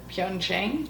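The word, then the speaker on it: Pyeongchang: So then we fast forward a few years and we're getting ready for Pyongqing. Yeah. Not sure I pronounced that right.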